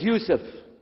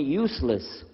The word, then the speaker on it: Yousef: work on it inallah my name is Yousef can you say Yousef said Yousef you're very good I wish You' teach my wife she keeps mispronouncing it she calls me useless alhamdulillah now how many